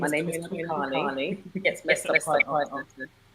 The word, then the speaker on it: Toyin Adekale: Well, as you always pronounce perfectly, my name is Toyin Adekale.